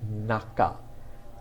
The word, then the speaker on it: 中: It's pronounced naka.